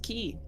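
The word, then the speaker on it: quay: picked it up yeah did you know that it is not actually pronounced qu it is key really yeah oh it is a stupid word q a y and it is pronounced key stupid word it is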